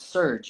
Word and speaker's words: Surje: but we're like oh we could call it surge you know a little play on words we'll spell it with a J it's like a surge